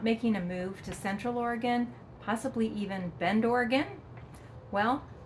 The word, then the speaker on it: Oregon: It is not Oregon or Oregon. The correct pronunciation is Oregon. Say it quickly, Oregon. And yes, it's gun at the end, not gone.